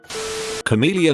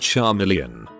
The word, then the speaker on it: chameleon: him 0 to 100 chameleon is not pronounced Shar million number you call them